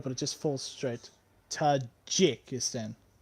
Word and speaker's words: Tajikistan: it just Falls straight Tajikistan not geek okay Todd G so she probably said a J in most contexts it's pronounced as a g oj it's a G